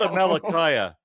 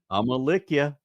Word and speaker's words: Amalickiah: of the first month, behold, they found that Amalickiah was dead in his own tent of javelin. No, that's not Amalickiah.